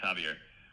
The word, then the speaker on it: Xavier: It's pronounced Javier but it's with a X.